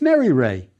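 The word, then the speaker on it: Meryre: means beloved don't forget honorific placement yes it's Mary Ray beloved of Ray this King has two names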